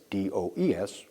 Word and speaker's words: does: S form is does d o e s pronounced does.